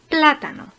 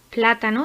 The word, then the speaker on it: plátano: Plátano. Plátano es una palabra esdrújula, como América, ya que tiene la sílaba tónica en tercera posición.